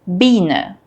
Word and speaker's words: Biene: Beine versus Biene. Weise versus Wiese. They look similar but sound totally different. So how do you tell them apart? EI is pronounced like I and IE is pronounced like E.